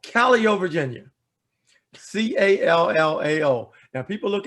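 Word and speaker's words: Callao: because it's world renowned it's a place called calio virginia c-a-l-l-a-o now people look at it and they say kaleo i say oh no that's that's not how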